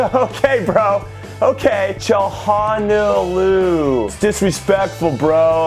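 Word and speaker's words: Çalhanoğlu: your name is she says you got to pronounce the name a cha haw know Lou okay bro okay Johan Oh Lou disrespectful bro like yo I'll just say however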